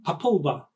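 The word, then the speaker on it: Popol Vuh: to the uh the papula I think is pronounced correctly papula Angelica is nodding her head so yes that's how you pronounce it so that's the May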